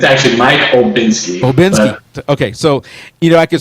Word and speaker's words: Olbinski: But Mike is real easy, MIKE, and then it's OLBINSKI, Mike Olbinski, real easy to do that. It's actually Mike Olbinski.